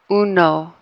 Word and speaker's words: uno: U, o, uno, uno. See how that sounds different than if we just pronounce it with English?